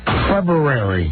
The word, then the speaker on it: February: next month of hell when you butcher the word February every day. February. There we go.